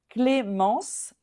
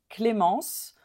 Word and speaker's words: Clémence: you pronounce this one là on veut pas entendre le N à la fin I don't W hear